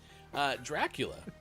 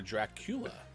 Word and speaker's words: Dracula: Dracula, or Dracula, depending on how you put the emphasis on which syllable.